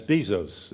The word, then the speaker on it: Bezos: Barron at the Washington Post today has Bezos, is Yeah. that the correct pronunciation, behind him.